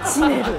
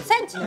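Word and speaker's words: 守護者: センチネル。そう、守護者って読んでる。センチネル。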